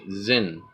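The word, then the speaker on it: Xyn: the Zen Trade Federation X Y n that's how you pronounce it Zin obviously heavy Asian influence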